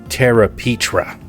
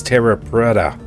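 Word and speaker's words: Terra Preta: you all this time I've been calling this Tara Petra but the real name is Terra Prada and you guys never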